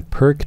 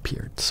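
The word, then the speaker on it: Pirc: Many people call it the Perk defense because that's how it's spelled, but it's actually pronounced Peart's, or the modern defense, you could also say.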